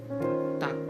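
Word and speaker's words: 닭: Dia tidak dibaca dak, tapi dia dibacanya itu tak ya. Dia nggak dibaca tak atau nggak dibaca tak atau dat gitu, tapi agak ke t gitu ya. Jadi dibacanya tuh tak gitu ya. Tak. Ini artinya ayam. Jadi serial ini dia tidak dibunyikan. Dia tidak dibunyikan. Jadi yang dibunyikannya itu akhir dari konsonannya aja. Akhir dari konsonannya aja nih, yang akhir dari sininya aja. Itu dibacanya jadi tak.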